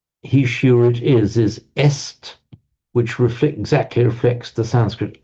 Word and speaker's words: est: Those of you who know French will know he is il est. This is French. Written as est, but pronounced just e in French.